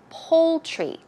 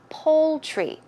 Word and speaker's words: poultry: you can also go to the poultry section pronunciation is poultry poultry as if you would pronounce pol II poultry